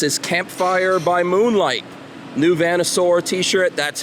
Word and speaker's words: VanNoisSeur: New VanNoisSeur t-shirt, that's how you pronounce that.